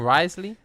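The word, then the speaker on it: Wriothesley: Risley.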